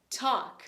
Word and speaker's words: talk: Como eu disse pra vocês, o L em algumas palavras a gente não vai pronunciar. Ele é mudo.